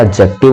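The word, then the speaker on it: adjective: एडजेक्टिव होता है। एडजेक्टिव नहीं बोलते, एडजेक्टिव में भी आपका D जो होता है वो साइलेंट होता है।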